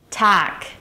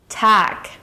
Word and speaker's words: Tag: Lastly, the word Tag is pronounced with a K sound at the end. Tag. Tag.